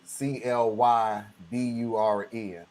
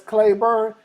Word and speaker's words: Clyburn: I'm like, I'm not even gonna go with Clyburn. Okay, that's Clayburn. Tell me, in which part of society has the Y ever been pronounced as an A?